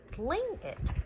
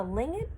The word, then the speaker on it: Tlingit: It's called a Tlingit legend. The T is silent, and it is actually the language that the Athabascans speak, as well as the villagers from Fred's family and friends.